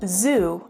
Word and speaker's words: xu: And XU, pronounced Zu, is a monetary unit in Vietnamese currency.